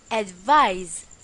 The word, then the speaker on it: advise: to give advice remember advice is pronounced as advise with a z examples Mrs Baker advis